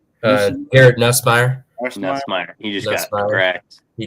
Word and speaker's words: Nussmeier: Nussmeier.